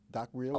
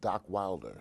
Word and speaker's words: Doc Wilder: Doc Wheeler? Oh, Doc Wilder. That's Wilder. I thought you were bringing up a person that was influential to us.